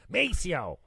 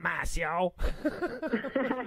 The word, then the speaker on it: Maceo: little bit of attitude maceo not massio that's so funny so